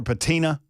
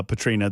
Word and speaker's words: Patrina: Did I call her Patina? I think I did. You may have. Yeah. When I referenced her to Jay, I'm sorry, uh, Patrina, that I screwed your name up.